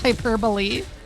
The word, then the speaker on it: hyperbole: to 69° C nice I used to pronounce hyperbole as hyperb hyperb owl thought hyper hyperb is cleric no it's hyperbole go now and shoot